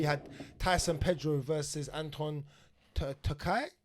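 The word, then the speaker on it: Turkalj: And another quick one, we had Tyson Pedro versus Anton Takao Silent J. with a silent J.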